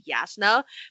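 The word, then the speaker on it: Jasnah: And that's Josh was like, no, with a Hebrew pronunciation that would be Yasna.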